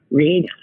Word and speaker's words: Rhiannon: And he says, when it comes to pronunciation of her name, think about it's Fleetwood Mac. That's it. The Fleetwood Mac song. Rhiannon.